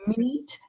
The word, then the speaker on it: meat: Watch out for meat and great and threat. They rhyme with sweet and straight and debt.